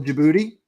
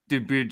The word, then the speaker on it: Djibouti: Djibouti's the capital of Djibouti. That is the correct. I enjoyed hearing you guys. What is this? You both try and pronounce it. Can we give me context there? Djibouti is a country in Africa on the eastern coast, bordering Somalia. Where? And the capital of Djibouti is also Djibouti. Cool.